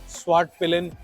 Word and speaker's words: Svartpilen: And this particular variant is pronounce as स्वाट पिलिन 401, और इसकी एक विट पिलिन भी बाइक आती है, वो 250cc कैटेगरी में आती है।